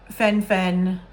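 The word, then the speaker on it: phen-fen: o word epidemic um so Fen Fen Fen uh by the way it's spelled p-h-e-n Dash Fen um and the thing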